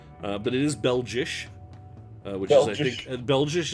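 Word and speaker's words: België: it is Bell Josh Bell Josh is how you say Belgium in Dutch what seriously I'm not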